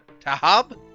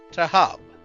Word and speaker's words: Tahab: And probably the Tahab. H is silent. Tahab? Yep, Tahab.